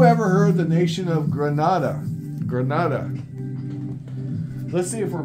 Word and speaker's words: Grenada: Anyway, let me get the proper pronunciation of Grenada. On the enunciator. Here we go. Grenada.